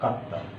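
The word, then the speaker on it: かった: চাই আর একটা তা, তখন এটার তায়ের সামনে এটা সু দিতে হয়, ছোটো একটা সু দিলে এই তায়ের উচ্চারণটা ডাবল হয়ে যায়। এই জন্য এটা তয়ে তো দিলে এই তায়ের আগে একটা ছোটো একটা সু দিতে হয়, সু এই অক্ষরটা দিলে এটা ডাবল উচ্চারণ হয়ে যায়, কাত্তা।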